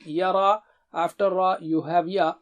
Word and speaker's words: يرى: Fahada, فهدى Yara. يرى Ya is here, Ra is thick.